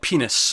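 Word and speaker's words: PEN15: It's called Penis, but it's spelled with a 1 and a 5 at the end.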